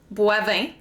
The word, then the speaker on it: Boivin: It literally follows French rules. OI makes the wa sound. Boivin.